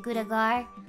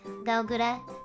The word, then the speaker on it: Gawr Gura: name i guess uh some people pronounce it gudegar but it sounds better as gogura to my ears but you can just